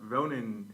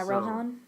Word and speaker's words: Rohan: hilarious my friend was very mad at about Ronan his voice actor being changed oh yeah Rohan yeah okay that's how you say it sorry